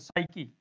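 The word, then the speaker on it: psyche: कुछ वर्ड ऐसे होते हैं जहां पर पी साइलेंट होता है, जैसे साइकी, आत्मा होती है। एस से पहले पी है ना यहाँ, उसके बाद में यहाँ वाई है, साइकी, इसको साइकी बोला जाता है।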